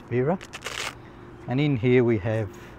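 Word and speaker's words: Wera: a German brand to the W's pronounced V so that's vera and in here we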